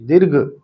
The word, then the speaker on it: दीर्घ: संधि का नाम हमारा मत बोला करो दीर्घ दीर्घ संस्कृत वालों का उच्चारण एकदम स्पष्ट होना चाहिए दीर्घ आधा र है घ के ऊपर दीर्घ संधि और पूरा